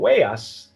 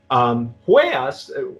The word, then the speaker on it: Huellas: And Huellas, or Huellas, I try not to pronounce the H. The H is silent.